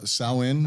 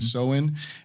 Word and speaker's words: Samhain: Samhain, I think is how we pronounce it. Samhain is the original holiday.